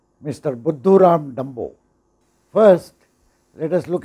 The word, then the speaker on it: Buddhuram: Buddhuram is a hindi word, which actually rhymes with Mr. Dumbo in English.